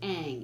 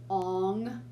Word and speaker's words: Aang: no way because he didn't even pronounce the character's names right like the one of the kid's name is aang and he's like ong like who the [